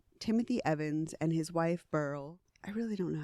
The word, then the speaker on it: Beryl: name is that but I've heard it pronounced burl sounds like chemical or like a gem right the couple was